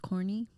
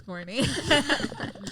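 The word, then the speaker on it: Kaurny: that's your instagram um k-a-u-r-n-y pronounced corny that's corny you did it on purpose yeah my last name is pronounced core uh and then i added the n-y so it's core and y say one more time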